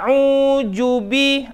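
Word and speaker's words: أعوذ: ahruf zuwa salah Hai karena dia bukan huruf Zain dia huruf Zal a'udzu Hai nah belum Nanti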